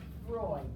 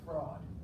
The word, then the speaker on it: Freud: Sigmund Freud, S-I-G-M-U-N-D, and it's Freud, F-R-E-U-D, and it's not pronounced fraud, okay?